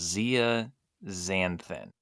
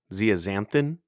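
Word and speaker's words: zeaxanthin: No, you need the luteine and the I think it's pronounced Zia Xanthin. Zeazanthin.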